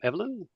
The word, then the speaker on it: Evelyn: We did have a couple of questions, Roland, from Evelyn. Is it? Have I pronounced that properly?